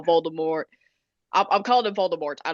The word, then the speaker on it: Voldemort: No, oh yeah, the T is silent. Yeah, I know. But anyway, in this scene, in this chapter, that is when Hagrid tells Harry about how Voldemort, I'm calling him Voldemort,